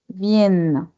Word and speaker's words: viennent: Il, elle, viennent. Aquí en il, elle, no pronunciamos E en T como siempre. Nos quedamos hasta la N.